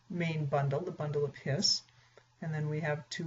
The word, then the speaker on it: His: in the bundle of hiss now I know it looks like his but it's pronounced bundle of hiss and bundle just basically means it's a bundle of axons and apparently mr.